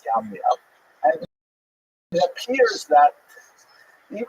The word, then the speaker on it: Jamnia: So the Roman term for Yavne is Yamnia, sometimes spelled with a J, pronounced Jamnia, but really it's Yamnia.